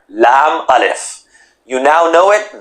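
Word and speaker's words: لا: created a new letter Lam alef you now know it the C is expanding Lam alif mostly pronounced as La wow and the letter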